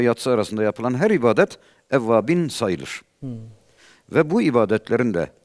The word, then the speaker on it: Evvabin: Evvabin, evabil değil. Bazıları halkta ebabil diyorlar. Evet. O kuştur, o ayrı.